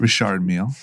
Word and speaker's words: Richard Mille: What's the right way to say it? Richard Mille. Okay. You know how why is it spelled MEAL then? It's French. Whatever.